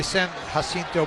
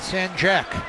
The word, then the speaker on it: San Jacinto: know how to parent we know how to pronounce our J's in espanol but yeah he says